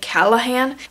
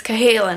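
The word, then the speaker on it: Cahalan: by Susannah Kalin and I always mispronounce her name I always feel like the L comes before the H and I say Callahan but it's Kalin I need to imprint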